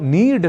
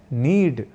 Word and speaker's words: नीड: ही प्रहार तो अब नीड शब्द का प्रयोग सर्वथा शुद्ध रूप में करना हो तो हमें कहना और लिखना है नीड न कि नीड़ अब जान लेते हैं